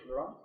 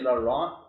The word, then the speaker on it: Laurent: Yeah, or even like if you say Laurent, or if you say the T at the end, I think for people who are native speaking here in Canada, it's obviously wrong to say it like that.